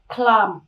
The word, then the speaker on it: climb: Cái thứ hai nữa là cái âm B này chúng ta bị câm. Cho nên âm B câm thì chúng ta chỉ còn âm M thôi, cho nên chúng ta đọc là climb.